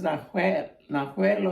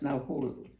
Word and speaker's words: Nahuel: It's a Spanish name, Nahul. He's pronounced it as Nahuel or something, but he pronounced it as Nahul.